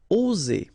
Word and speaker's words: oser: Okay, it's interesting here because you've got only one S between two vowels, and normally the pronunciation you will get when you get only one S, it's Z. Okay, oser. Alright, if you would have deux S instead, you will pronounce it ose, okay? But in that case, you've got only one S, and that's the rule. One S between two vowels will produce the sound Z, oser, okay?